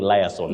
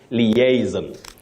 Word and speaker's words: liaison: But the correct pronunciation of that word, Betty, is liaison. Okay. Liaison. That is the way to go.